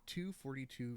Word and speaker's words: To_42: to this link like toe 42 242 yeah it's just 242.